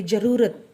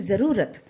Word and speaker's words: ज़रूरत: अभी देखो, ज़रूरत, ज़रूरत बोलते हैं हम ऐसे नहीं बोलते कि ज़रूरत, रॉन्ग है ये। तो प्रोनाउंसिएशन कैसा होना चाहिए, ज़रूरत। तो इस ज़रूरत लिखने के नीचे, ज के नीचे नुक्ता आना चाहिए।